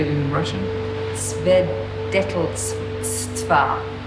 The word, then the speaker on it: Свидетельства: Свидетельства. Свидетельства.